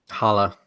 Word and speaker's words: challah: I don't think you pronounce the C again. Yeah. No C's, Yeah. unfortunately. Despite requiring 3 C's, it has no C's.